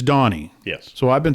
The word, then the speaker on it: Doheny: Doheny or Doheny, or how are we pronouncing it? Doheny? It's Donnie.